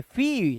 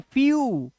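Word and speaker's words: few: सकते इसे क्या पढ़ेंगे इसे हम क्या पढ़ेंगे फी नहीं फी नहीं फ्यू इसी तरह से इसे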